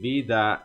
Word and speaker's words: vida: a primeira teremos vida e vida é a forma de pronunciar vida o ver sempre Sutil vida aí você pode